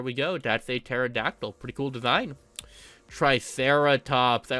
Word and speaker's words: pterodactyl: Pterodactyl. I have no idea why they put a P there, which is silent, but you know, I'm pretty sure that's how it's pronounced, right? Pterodactyl.